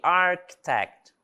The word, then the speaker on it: architect: também não é pronunciado e architect também não é pronunciado tá certo aqui eu